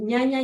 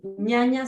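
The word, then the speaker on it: jñana: El ñaña yoga, ¿sí? Ñaña se escribe con J-Ñ, ñaña yoga.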